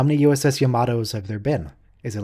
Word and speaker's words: Yamato: five with no abc dre how many uss yamatos have there been is it like the enterprise yamato rhymes with clamato okay it's clamato juice clam and